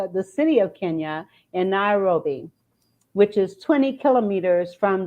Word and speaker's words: Nairobi: Well, listen, she is from Kenya, Nairobi. Did I pronounce that right? Nairobi.